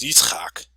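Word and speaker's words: יצחק: they name well obviously Isaac in Hebrew it's pronounced Yak which means laughter I don't know I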